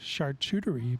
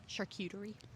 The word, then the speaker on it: charcuterie: more cultured than me because they eat char chartreutery boards charcuterie so whose kids are more cultured yeah in